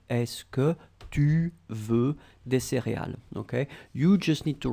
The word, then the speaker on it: céréales: Okay, remember pronunciation for céréales. We've got the accent aigu, so we go for the e, céréales.